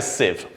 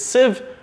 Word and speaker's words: sieve: losing control losing the plot mind like a sieve and notice the pronunciation it's sieve not sieve it's mind like a sieve a sieve is